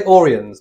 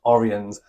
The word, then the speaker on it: Oriens: Some people might say Oriens, but we've been reliably told it's pronounced Oriens.